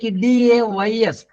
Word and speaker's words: dais: Dais. Dias. It is to be pronounced just like DAYS.